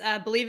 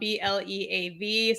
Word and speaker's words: Bleav: Yes, Bleav in Softball Season 4 is launching.